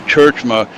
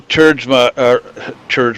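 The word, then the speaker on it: Tjeerdsma: It's T-J-E-E-R-D-S-M-A, pronounced Churchma. He finished second last season to Dale Smalley. Dale Smalley, of course, going home with the trophy and the big check. But Michael Churchma, here I go pronouncing it wrong, Churchma.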